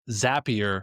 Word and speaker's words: Zapier: Um Zappier makes you happier. That's how I remember to pronounce it. And it's also it's a zap, right? It's not a zape.